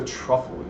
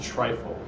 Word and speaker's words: trifle: than a cake though trifle it is pronounced trifle i don't know that